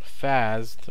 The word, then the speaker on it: Fasd: All right, this one's going to be on a command line program called well I think it's pronounced fast.